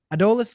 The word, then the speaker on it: Adolis: how do you say the first name Adis adolis Braden adus adolis Garcia right this kid just broke a record